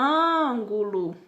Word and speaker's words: ângulo: ela é uma proparoxítona da mesma forma que o ângulo então luan ele sobressai é a antepenúltima sílaba certo então vamos lá